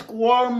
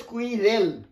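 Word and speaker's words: squirrel: আর স্কোয়ার দেখো এটা হচ্ছে কাঠবিড়ালি, দেখো উচ্চারণ ভালো করে লক্ষ্য করো, আমাদের বইতে লেখা আছে স্কুইরেল, দ্যাট ইজ রং, উচ্চারণটা শোনার চেষ্টা করো, স্কোয়ার স্কোয়ার স্কোয়ার স্কোয়ার, শুনলে তিনবার বলেছি, শোনাটা খুব দরকার।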